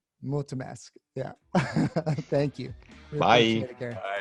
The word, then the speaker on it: Mulțumesc: Multimesk. Did I say it right? No. Finally. Thank you so much. It's Mulțumesc. Mulțumesc.